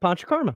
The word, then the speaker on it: Panchakarma: That is correct, Panchakarma.